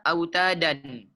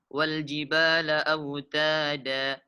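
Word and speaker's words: أَوْتَادًا: Ketika dibaca waqaf maka wal jibala autada dipanjangkan 2 harkat. Dan tidak dibaca autadan. Salah. Nah, jadi cara membacanya wal jibala autada.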